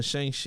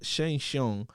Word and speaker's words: Shang-Chi: It's not even Shang-Chi, it's Shang-Chung. That's how it's pronounced.